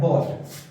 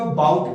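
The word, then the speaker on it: bought: Second form क्या है, बॉट, बाय, बोट, बोट, clear. और कुछ लोग इसको बाउट प्रोनाउंस करते हैं, इट्स नॉट अबाउट, इट्स बॉट।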